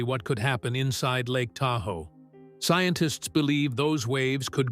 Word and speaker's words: Tahoe: Long before modern maps existed, they called it Da ow, meaning the edge of the lake. Over time, early settlers mispronounced the name and it eventually became Tahoe.